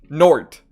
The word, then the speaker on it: nought: Nort. Nort. Like that. Yeah, Nort. That's better. Norts and... So Nort is spelt like N-O-U-G-H-T.